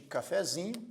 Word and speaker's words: cafezinho: Então a sílaba tônica de cafezinho é zi. A sílaba subtônica é fé, porque originalmente a palavra café tinha como sílaba tônica é.